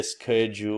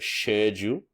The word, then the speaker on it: schedule: I don't know if it's Americans who say schedule or schedule, right? But you need to know, like, SCHE is sh.